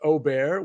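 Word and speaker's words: Åberg: that we know that it's not properly said as Aberg, that it's like I feel silly pronouncing it the correct way. Like, does that make me like a bad person, or am I like, I guess it's like Aubert, which like totally doesn't make any sense to me.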